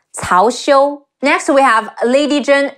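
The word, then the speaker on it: 曹休: There's also Cao Cao's nephew, Cao Xiu. Cao Cao, C-E-O, Xiu, Cao Xiu.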